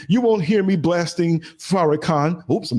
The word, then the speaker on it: Farrakhan: You won't hear me blasting Farrakhan. Oops, I'm not supposed to name that name. Oh, let me say it wrong. Uh that guy, Farakin, the one that hates Jews.